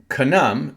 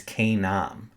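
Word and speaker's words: Kainam: Okay, Kanam is Canaan. So if you look at um the book of Jubilees, who they say his name, the son of Arax is, it's Kam. Kam, not Kan. Okay, K A I N A M.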